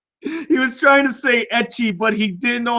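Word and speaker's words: ecchi: You couldn't spell etchy, so you just wrote itchy. For those who want to know, etchy is spelled E-C-C-H-I.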